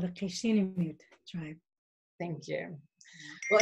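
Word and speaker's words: Cup'ik: michelle uh can you tell me how to pronounce the name of your tribe in your life that's right yes it's called the casino tribe thank you well it's so great to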